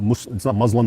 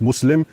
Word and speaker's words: Muslim: It's not Islam, it's Islam, and it's not Muslim, it's Muslim. And the two words are connected, right?